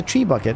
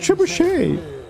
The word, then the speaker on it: trebuchet: Ah yes, a tree bucket. It's pronounced trebuchet.